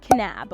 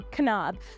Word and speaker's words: Kanab: it's in this little itty bitty town called Kanab or Kanab I actually don't know entirely how to say